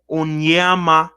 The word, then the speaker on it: Onyema: So the pronunciation of the name is Onyema Ogbuagu.